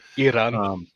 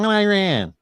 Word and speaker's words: Iran: who was from Iran Iran yeah so he always correct me it's not Iran you white guy um Iran yeah I I take